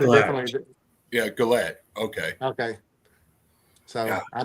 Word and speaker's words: Goulet: Oh, it's Goulet. Okay, so I was right.